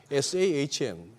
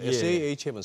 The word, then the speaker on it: Sahm: 지금 대표님도 싸움 하셨다가 샤움 하셨다가 막 이렇게 우리 한국 사람들 입에는 시이 더 발음이 쉬운가 봐요 근데 아까 저 화면 저 싸 룰 sahm 사람 이름은 제대로 불러 줘야죠 sahm 싸움이죠 SH면 시인데 예 근데 대부분 우리